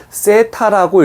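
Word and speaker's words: θ: 0에다가 이렇게 긋는 것을 세타라고 읽습니다.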